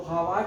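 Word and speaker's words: Haworth: तो हार्वर्ड है, एक साइलेंट रहता है इनके नाम में।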